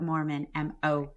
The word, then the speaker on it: Moorman: So there's not Mormon like the religion, but Moorman, Moorman.